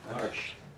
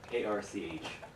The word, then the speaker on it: Arch: Arsh. How do you spell it? A-R-C-H. Like Archie. Yeah. Okay. Yeah, I say it wrong here. Arch.